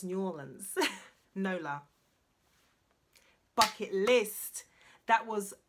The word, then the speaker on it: New Orleans: And actually, it's pronounced New Orleans.